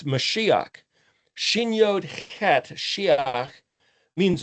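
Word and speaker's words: מָשִׁיחַ: might say, pure projected communication, which means it's Mashiach. Shin Yod Het Shiach means anointed, but it also means conversation and communication. So the mem prefix in front of Shin Yod Het then be pronounced Mashiach, transliterated as Messiah, projected transliteration Christ, literally the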